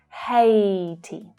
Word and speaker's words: Haiti: Haiti, Haiti. So here the AI is pronounced A in the same way as day. It's the same vowel sound. Haiti, Haiti.